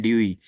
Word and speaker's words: Dewey: John ड्यूई, लोग इसको डीवी डीवी पढ़ते हैं. That is absolutely wrong pronunciation. The correct pronunciation is John ड्यूई.